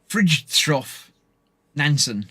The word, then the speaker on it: Fridtjof Nansen: I've got no idea how to pronounce this. It's Fridtjof Nansen.